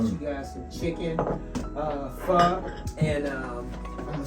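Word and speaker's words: pho: The proper word is it's spelled P H O, but the O is pronounced kind of like a A.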